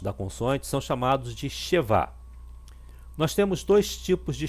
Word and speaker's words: shevá: aqui que é o shevá. O shevá, ele muitas vezes é pronunciado, né, e outras vezes não é pronunciado. Ele tem, quando ele é pronunciado, ele tem o som de E.